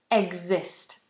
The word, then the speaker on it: exist: below um please pronounce exist exist it doesn't exist it's like a g sound um please I'm not